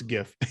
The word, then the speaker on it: GIF: massive ongoing debate but since it says since the g stands for graphics i kind of go with the hard g but i know lots of people say gif but i'm like it stands for graphics it's gif so that's my my own